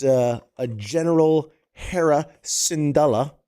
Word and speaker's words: Syndulla: Okay, yeah, see, I got people giving me the pronunciations. Here we go. Syndulla.